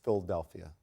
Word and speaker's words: Philadelphia: with what they're doing philadelphia actually has four syllables instead of five i still live there it's philadelphia are they actually is